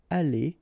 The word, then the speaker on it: allé: The good thing, as usual in French, is you will pronounce it aller, aller, aller, and aller. So technically you don't pronounce the final e, you don't pronounce the final s, and you don't pronounce the final es.